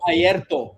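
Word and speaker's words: Airto: Ayrto. Yeah, you got to roll your R's, man.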